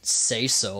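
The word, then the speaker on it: Caeso: okay so yeah so you could all honestly you could pronounce it say so if you wanted but say so i'm calling them queso you got it i'm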